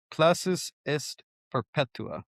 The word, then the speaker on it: Classis est perpetua: Actually, you pronounce this. Classis est perpetua.